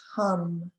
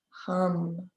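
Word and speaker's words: हं: mantra any time and the mantra for our throat chakra is hum rhymes with thumb hum and so i'll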